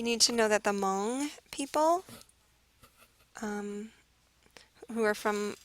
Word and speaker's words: Hmong: and Thailand that's the Hmong people the H is silent um you got to